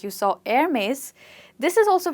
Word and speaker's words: Hermès: The next one that we have is again an amazing luxury brand, a French luxury brand, and like you saw Hermès, this is also pronounced very differently from how people actually pronounce it.